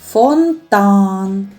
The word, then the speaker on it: фонтан: А який голосний звук є наголошеним? Фонтан. Фонтан. Фонтан. Голосом більше виділяється звук А. Над звуком А і ставимо наголос.